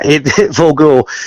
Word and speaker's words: Volgor: Volgor. It's a silly name, really. Vulgar and gore just squashed together because we really couldn't think of anything.